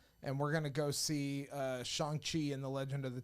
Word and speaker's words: Shang-Chi: It's not Shang-Chi. It's Shang-Chi.